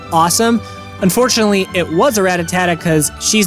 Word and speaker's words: Rattata: I know it's Rattata, but for some reason as a kid, I added that extra syllable, and to this day, a grown adult man, I still don't read it right and still call him Rattata, so just bear with me for this story.